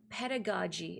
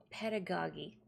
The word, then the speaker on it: pedagogy: Anyway, just earlier today, because I'd never heard it spoken aloud, I realized the word is pronounced pedagogy and not pedagogy. Like, oh, there's a a hard a soft G sound.